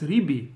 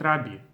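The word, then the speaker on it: רבי: thinking this is not correct according to seari pronunciation it's ribi not rabi we're so accustomed that Rabbi in Hebrew is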